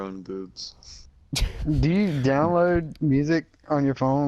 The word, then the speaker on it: Musi: Musi? Spell that. Yeah, Musi, it's free. It's MUSI. Oh, Muses? That's right, guys.